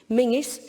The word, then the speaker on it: Menzies: Castle it's spelled colzine Mingus spelled Menzies cargonian which is a